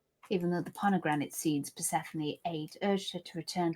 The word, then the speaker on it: Persephone: Have you read the story of Hades and Persephone? I heard you almost pronounce it the same way I used to pronounce it.